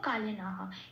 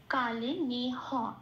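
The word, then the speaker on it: কালেনেহ: এবার বলবো কালে না হ। এটা কা, লে যেমন আছে তেমন, নে হ পূর্ণরূপ উচ্চারিত হচ্ছে, কোনো হসন্ত নেই, সেই জন্য কালে নে হ।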